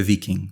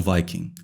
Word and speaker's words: Viking: E caso você esteja se perguntando, a pronúncia é viking, não viking.